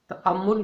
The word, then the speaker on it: تأمل: کتاب مقدس کے چند ایک الفاظ کا درست تلفظ اور ان کی وضاحت۔ تأمل کرنا۔ تأمل کرنا عربی زبان کا لفظ ہے۔